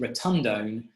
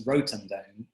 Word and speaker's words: rotundone: I always pronounced it rotundone, but I listened to a correct pronunciation and it's rotundone, I am assured. So rotundone is the characteristic, but a lot of people are anosmic to that flavour.